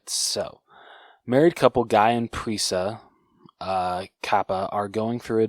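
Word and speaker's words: Prisca: At the hotel they are staying in, Guy and Prisa, is that how you say her name? I would say Priska? Priska, okay.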